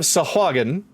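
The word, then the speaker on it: sahuagin: be some kind of sahagan bear I gave it the correct pronunciation for you Naraku who are her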